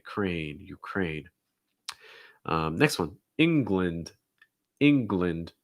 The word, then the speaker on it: England: ukraine um next one england england no it's not england it's england it gets reduced so the gland is more glind glind almost like a short eye sound glint england other thing